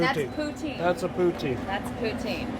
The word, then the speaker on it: poutine: Poutine. How do you pronounce it?